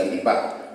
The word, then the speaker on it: chiripá: De ahí surge la palabra chiripá, con el acento en guaraní.